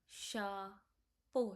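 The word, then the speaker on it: chapeau: When you see E AU, whenever you see E AU, it will be like O sound. O O O O O. So E A U E A U E A E A. So the sound will be like o O. Okay. So let's speak shao. Sha po. Shapo means hat.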